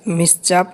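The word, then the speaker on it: mischief: again don't do such মিস চাপ again এখানে আইটা সাইলেন্ট হবে এটা কি হোয়াট ইজ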